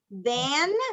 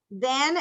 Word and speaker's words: than: Than, pronunciame esa N siempre, than she is.